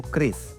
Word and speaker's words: QRIS: Bayarnya bisa pakai kiris kan kerap penyebutannya salah. Tapi punya satu maksud, bayar menggunakan sistem scan QR kode atau non tunai. Quick response COD Indonesia Standard atau Kris, bacanya yang benar menjadi pembayaran digital yang menjamur di Indonesia.